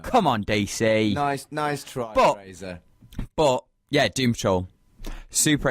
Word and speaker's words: Fraser: They go Fraser, and I'm not really that bothered about it. But there's one interview where he goes, "It's not Fraser, it's Fraser," and he not loses